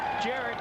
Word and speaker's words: Garrett: Jared Burnett, correct? Yeah. It's spelled G-A-R-R-E-T-T. Why wouldn't it be Garrett?